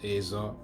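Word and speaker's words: ezer: If you check on it, it should be Azar, like E-Z-E-R, but it's pronounced as Azar, which means really just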